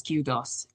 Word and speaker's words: kudos: No, actually it's pronounced as kudos.